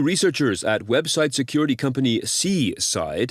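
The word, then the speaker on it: c/side: According to researchers at website security company Seaside, that is spelled lowercase c / and then SIDE, this campaign infiltrates legitimate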